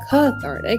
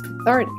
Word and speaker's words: cathartic: By seeing this little guy here, I know that I should put the stress on the second syllable. So it's not cathartic, it's cathartic.